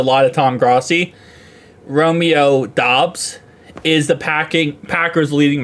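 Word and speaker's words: Doubs: surprised if Romeo uh is it dubs I know it's not what you think how to say it CU I I watch a lot of Tom grai Romeo dobs is the packing Packers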